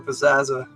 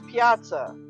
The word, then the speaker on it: Piazza: Bert will trade you a Wembley for a Pizzazza. Sounds like a fair trade, like in Dances with You're Wolves. saying it wrong. It's Piazza.